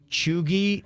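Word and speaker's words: cheugy: make the most sense chugi chugi is correct wow bird that's awesome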